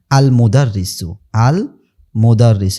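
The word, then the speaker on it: المدرس: আচ্ছা, এরপরেরটা দেখেন আল মুদাররিসু, এখানে কিন্তু আলিফ লামটা উচ্চারিত হয়েছে। কারণ কি? কারণ এই দেখেন এই যে মিমটা হলো কি? মিমটা হলো লামের পরে মিম আসছে, মিমটা হলো হরফে কমারিয়ার অন্তর্ভুক্ত।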